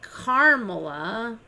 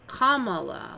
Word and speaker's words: Kamala: It's not Carmela. It says it's Kamala. Has been telling for years. Harris has been telling people her name is pronounced Kamala, like the punctuation mark, Kamala.